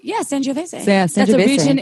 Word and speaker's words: Sangiovese: yeah, Sangiovese.